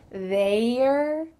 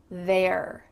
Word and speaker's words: they're: Instead, the Y is just going to be kind of glossed over. We can say Theyre. Theyre. The Y is a little bit forgotten and it sounds the same as T-H-E-I-R or T-H-E-R-E. There.